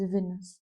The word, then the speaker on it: Winters: Though it's written as Winters, it's pronounced as Venus.